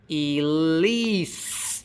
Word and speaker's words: Elise: Elise ends with an S sound, and the vowels are the same. Elise. Where is the stress in Elise? Is it Elise or is it Elise? The stress is on the second syllable.